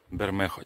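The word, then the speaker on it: Bermejo: Ну, кстати, видите, гляньте, кто не знает, по-испански вот это не английское G, это испанское Х. Бермехо читается.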